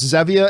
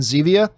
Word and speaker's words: Zevia: You notice I go back and forth pronouncing it as Zevia and Zevia.